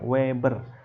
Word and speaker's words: weber: ini dibacanya fluks magnet dalam satuan WB dibacanya Weber aanya adalah luas penampangnya